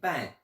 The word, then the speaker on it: 半: Ils me disaient attention, il faut quand même un peu entendre le N. Donc pas bien, pan, pan.